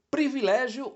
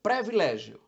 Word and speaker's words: privilégio: infarte bem vamos lá como o prefixo pré é muito usado há uma tendência a se falar previlégio só que esta palavra vem do latim privilegium priv de priv privado e legum de Lex lei Então etimologicamente significa lei privada isto é uma Norma